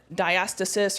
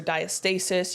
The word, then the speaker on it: diastasis: top IC as well looking at diastasis or diastasis you can pronounce it either way and what that is